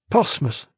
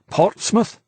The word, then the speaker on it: Portsmouth: had said it porm the French just cannot get that brains are in the concept of four consecutive consonants R TSM how do you pronounce that they can't they say porm but his caller pronounced it just the way an Englishman would Portmouth KY nodded understanding now what